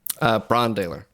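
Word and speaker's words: Brann Dailor: And the drummer is am I pronouncing it right? Brandaler? Brandaler.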